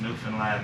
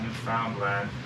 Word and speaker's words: Newfoundland: is a beer and it's pronounced Newfoundland not Newfoundland or New Finland Newfoundland is the oldest